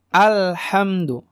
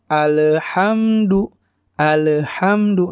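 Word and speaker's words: الحمد: namanya tidak seperti Qalqalah ada orang yang bacanya alhamdu lillahil hamdu Nah itu tidak tidak benar cara baca yang benar alhamdu lillah hamdu ya seperti itu jadi Tidak ada pantulan dan sedikit ditahan al-hamdu jadi enggak alhamdu lillahil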